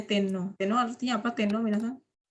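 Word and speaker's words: 天皇: Ini bacanya Tenno.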